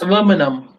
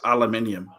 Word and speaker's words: aluminium: oh sorry aluminum right how do you say aluminum James aluminum we say aluminium aluminium King just Stephen King